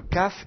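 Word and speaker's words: כף: la bouche alors que le CAF se prononce plus sur le devant de la de la bouche comme ça CAF KOF voyez la différence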